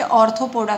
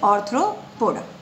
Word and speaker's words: Arthropoda: Ortho की spelling ARTHRO, usually बच्चे ऑर्थोपोडा करते हैं ARTHO, बट इट इज ऑर्थ्रोपोडा।